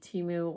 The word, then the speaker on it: Temu: are seeing on the Teimu website. Um, I know that a handful of you watch my teu. I've been saying it wrong this whole time. I'm still going to say Teimu.